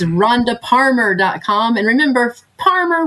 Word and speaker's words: Parmer: And remember, Parmer rhymes with farmer, but starts with a P like Paul.